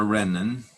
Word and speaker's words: renin: cost of landon stimulates Ranen release and the rena nor renin either pronunciation is correct is an enzyme that